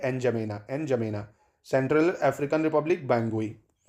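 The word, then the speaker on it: N'Djamena: एन जमेना, एन जमेना, ठीक है। एन जमेना, D silent रहता है, ठीक है।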